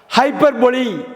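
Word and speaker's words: hyperbole: அடுத்து நம்ம பார்க்க போகிற மிஸ்ப்ரொனவுன்ஸ்டு வேர்டு, தவறாக உச்சரிக்கப்படுகின்ற வார்த்தை வந்து ஹைப்பர்பொலி. ஹெச்ஒய்பிஆர், ஹைப்பர், ஹெச்ஒய்பிஆர், பிஓஎல்இ, போல்னு சொல்லுவாங்க, சொல்லக்கூடாது, ஹைப்பர்பொலின்னு சொல்லிடணும்.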